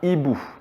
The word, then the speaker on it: hibou: Par exemple, un hibou. Un hibou, finalement, on entend le I, mais on n'entend pas le H.